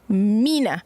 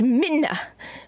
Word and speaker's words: Mina: Well, technically, her name is Minna. Okay? I keep telling myself, her name is not Mina. Her name is Minna. Okay? Still spell it Mina, but it's Minna.